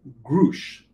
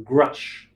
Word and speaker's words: Grusch: So this leads us to this article by The Debrief, where that covered this whistleblower, David Grusch, or Grusch. Grusch, I believe, is the German pronunciation.